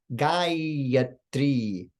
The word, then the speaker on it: Gayatri: So in the word Gayatri, the first ah is long, the second is short, and the final syllable e is also long. Listen to the difference. Gayatri, Gayatri, Gayatri.